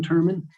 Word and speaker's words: Turman: The post that I saw that, Is his last name Turner or Thurman? Turman. And how's that I'll have spelled? him spell it. Okay, That's showing up as Turner. I'm not sure why. okay. So it's Turman.